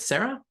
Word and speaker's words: Zarak: Is it Sarah? Yes, that's correct pronunciation, and it's a good change to have.